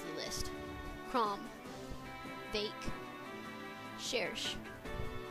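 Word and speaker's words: Cherche: Her name seems to be derived from French, and the CH sound is pronounced like an SH in this case.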